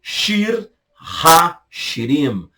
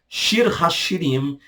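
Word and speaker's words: שיר השירים: Cântico dos Cânticos, hebraico, Shir ha-Shirim. Shir ha-Shirim, Cântico dos Cânticos é o nome, ok?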